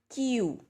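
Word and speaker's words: queue: have qu e ue so we pronounce this word as tu so it is Q and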